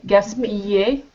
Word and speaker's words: gaspiller: C'est le son « yé ». Yé, gaspillé.